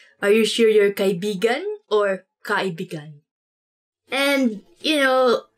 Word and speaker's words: kaibigan: Let me say something about this word, because you have to say it like this. Kaibigan. Kaibigan. Because kaibigan means friend. But when you twist it a bit and say it like this, kaibigan. Kaibigan. That's kind of, it's not really a natural way of saying it, but it actually means lover.